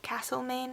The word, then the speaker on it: Castlemaine: After the op shopping and things, we headed up to Castlemaine, or Castlemaine as some people pronounce it, and we did a little bit of shopping around there.